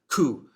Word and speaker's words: coup: out the meaning of cou but yes be very very careful with the pronunciation the P completely silent so yeah cou sounds like a pigeon